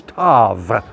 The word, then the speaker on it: Tav: And the mark, of course, if you read it in the Hebrew, is Tav, T-A-W, or we would pronounce it Tav with a V, which in those days, interestingly enough, looked like a cross.